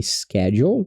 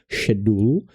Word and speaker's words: schedule: Então aquela palavra ali é schedule, mas tem outras e pronúncias também do inglês britânico, muda um pouquinho, vira meio que um shedulu.